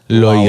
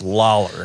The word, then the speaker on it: Lawler: It's not Loyar. Lalar. No, it's not Loyar. Lolar. It's not Loyar. It's not any of those things. It's Lawler.